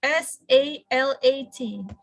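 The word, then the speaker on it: صلاة: But then I just found out lately that the standard form, it should be SALAT. And then also salad. So we have to pronounce it as salad.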